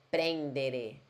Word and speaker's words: prendere: mangiare, não é mangiare, prendere, não é prendere, é prendere, com E mesmo no final.